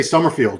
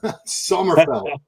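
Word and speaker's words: Sommerfeld: I mean, I always want to say Somerfield because tomato tomato. Okay. Yeah. Although I think the German fans are probably upset that we're we've been saying his name wrong. Somerfell.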